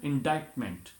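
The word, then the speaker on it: indictment: इसी तरह से इंडाइटमेंट, INDIC है, तो सी यहाँ पे जो है वो साइलेंट हो जाएगा, इंडाइटमेंट.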